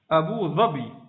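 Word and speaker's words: Abu Dhabi: Abu Zabi.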